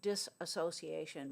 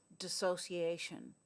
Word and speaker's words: dissociation: It's not pronounced disassociation. Many people pronounce it that way. It's not that. It's dissociation.